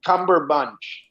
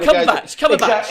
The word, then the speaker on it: Cumberbatch: Oh, Cumberbatch. It's just Cumberbatch.